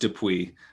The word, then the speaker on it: Dupuis: twitter sure so my my last name is is french canadian pronounced de pui but can be hard for people to it it's not spelled phonetically we'll say that so